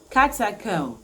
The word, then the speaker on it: catacomb: the next one is carta comb catacomb the bee is silent catacomb is an underground